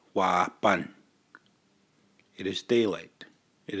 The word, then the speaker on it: wāpan: partners right up above whoppin phonetically would say why bun it is day late